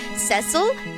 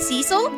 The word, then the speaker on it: Cecil: I'm saying Cecil and Ceil are both valid because this comes from a time when they just did not care. It should be Cecil.